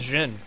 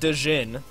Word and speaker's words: Jhin: It's Jhin. That's how you say it. Jhin. That's a DJ noise together. Jhin. It's not Dejin. It's not DJ in.